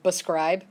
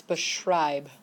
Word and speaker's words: beschreib: Because a lot of people will say beschreib, but that's not it. It's beschreib. Okay?